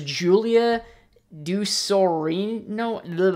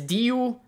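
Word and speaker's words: Julia Ducournau: Now, I'm going to try to pronounce some of these names, so don't kill me because it's French. So director is Julia Dusorino. It's Ducournaao.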